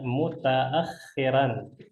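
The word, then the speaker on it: مُتَأَخِّرًا: Ini cara bacanya mutaakhiran. Bisa? Mutaakhiran. Coba diulangi. Nah, silakan diulangi.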